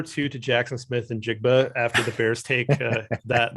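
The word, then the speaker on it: Njigba: and a number two uh how do you pronounce the ohio state receiver's name jigba uh uh jackson smith and jigba yeah yeah jackson smith and jake but so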